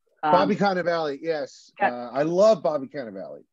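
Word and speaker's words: Cannavale: at kind of Valley am I am I pronouncing that right Bobby kind of Valley yes I love Bobby cannavali I think I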